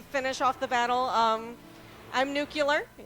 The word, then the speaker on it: Nukkuler: I'm Nukkuler. It's spelled that way down there. Yes, it's not nuclear, it's nukkuler.